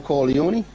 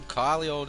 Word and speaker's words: Corleone: Right, no, I said Don Corleone, innit, off The Godfather. Nah, it's Don Corleone, innit?